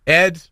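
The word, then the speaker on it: Edd: Ed. It rhymes with dead.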